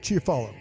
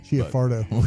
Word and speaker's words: Chiafardo: all like Eric Chiafalo, insider. I think it's Chiafardo. Chiafardo. We have a name You know, change. you know what? I tried to say it right.